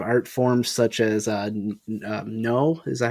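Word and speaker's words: Noh: uh their live art forms such as uh no is that how you pronounce it yes yeah such as that and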